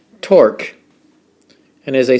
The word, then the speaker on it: torque: torque and as i say in some books it rhymes with fork although spelled quite differently torque it's a twisting